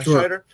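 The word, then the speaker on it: Scheider: Uh so, and it's um was it Shider? Is that how you pronounce his uh last name? Yeah, Shider.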